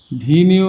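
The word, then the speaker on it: venue: Means রাজস্ব বা আয় ভিনিউ মিন্স মিলন স্থল বা অনুষ্ঠান স্থল ভেন ভেনু বলে আর কি ভিনু আবার উচ্চারণ কিন্তু আমরা ভেনু বলি প্রচলিত ন্টিকমেন্স প্রাচীন ঐতিহ্যবাহী।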